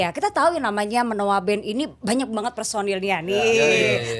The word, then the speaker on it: Menoewa: siapa nih menoa halo kenalin nama gua entar bacanya benar menoa kan ya iya betul menoa karena tulisannya ini unik banget loh ya apa